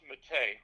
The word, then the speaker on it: Mattei: Matai or Mate? Uh Italian last name pronounced Mate.